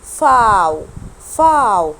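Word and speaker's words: Vau: جدا وكتير منكم بيتلخبط فيه. اسمه فاو. اوعى اسمع حد يقول لي فاو، ننسى خالص ان هو اسمه في. اسمه فاو. طب انا بنطقه ازاي؟ بنطقه زي الاف بالظبط.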